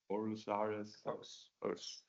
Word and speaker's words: Aarhus: Aarhus. So the pronunciation was correct.